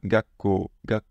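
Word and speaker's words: 学校: va prendre en accent c'est juste que les consonnes durent comme ceci on va arrêter les prononcer et du coup on va faire une pause et ça devient Gako ça pareil ça en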